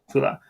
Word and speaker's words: Fula: some similarities that you had the is it Fula? Am I pronouncing that correctly? Fula. Fula.